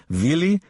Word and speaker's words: Willy: At her side, the amusing Willy, W, pronounced V, Kappler, the silliest-looking man,